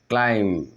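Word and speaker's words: climb: থাকে let's get started ওকে যখন এম এন্ড বি যখন এম এন্ড বি এম এন্ড বি একসাথে থাকবে ইংলিশ ওয়ার্ডে আমরা বি উচ্চারণ করব না এখানে আমি কিছু এক্সাম্পল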